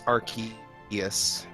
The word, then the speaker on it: Arceus: canon English pronunciation is Arceus.